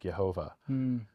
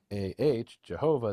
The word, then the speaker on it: Jehovah: But in German to this day, if you were to write Jehovah, Jehovah, they would pronounce it Yehovah.